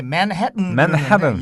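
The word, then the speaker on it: Manhattan: 영어 발음으로는 이게 이제 맨해튼. 약간 이제 트는 비음 발음이 나서 미국 사람들은 이제 맨해튼 이렇게 발음하는데 우리가 지금 이 방송에서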